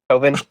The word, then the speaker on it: Coven: Say, how do you pronounce Storm Coven? Coven like a witch.